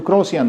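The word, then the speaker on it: croissant: बने डबल चोट, उसको क्रॉसियन बोलते हैं, समझ रहे हैं। और प्रोनाउंसिएशन कुछ और है, लिखा हुआ कुछ और है, क्रॉसियन पढ़ेंगे आप इसको, क्रॉसियंस। ही trembled with just the tiniest bit of fear when 3 cats meowing.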